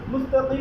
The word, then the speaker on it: المستقيم: اهدنا الصراط المستقيم মুস্তাকিম যদি কম তাহলে একটু সিলের পরিপূর্ণ উচ্চারণ হবে না।